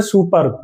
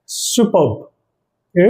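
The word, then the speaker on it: superb: ये जो हमारा वर्ड है सुपर्ब इसको बोलते हैं सुपर्ब लेकिन इसमें जो आर है हमारा इसको साइलेंट करना पड़ता है तो इसका जो प्रोनंसिएशन है वो रहेगा इट्स सुपर्ब इट्स सुपर्ब ठीक है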